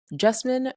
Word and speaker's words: Jasmine: myself, and that is Jasmine rhymes with specimen, but with a J.